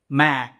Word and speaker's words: man: তো এই যে প্রথম যে শব্দ নর্মালি ম্যান, ওকে ম্যান, যখন আমরা এটা উচ্চারণ করব তখন আমাদের মুখ একটু হা করে লাইক ম্যান ম্যান।